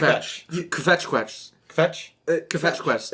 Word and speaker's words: kvetch: In chorus, people misuse the word kvetch on a daily basis, and does it bothers me.